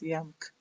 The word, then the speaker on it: YAMK: And so when you do this, especially for this YAMK, it's called YAMK, not JAMK. That is the way Finnish pronounce. They don't pronounce J, they call it YA.